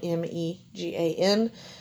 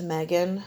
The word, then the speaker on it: Megan: My middle name is Megan, and it is spelled M-E-G-A-N. Everybody says Megan, naturally, but it is pronounced Megan, and my mom named me.